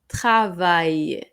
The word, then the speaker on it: travail: Le travail, le travail এখানে আমরা এলটা উচ্চারণ করব না, সো এটা হবে le travail, le travail এর মানেও কাজ।